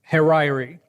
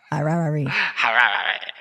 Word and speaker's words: Harari: Professor Hariri. I guarantee you that's not how you say his name. Marriage. Marriage is what brings us here today. Harari.